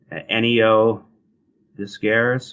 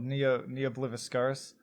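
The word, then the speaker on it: Ne Obliviscaris: I can't even pronounce their name. Neo Discaris or something like that. Oh, Neo Bliviscaris.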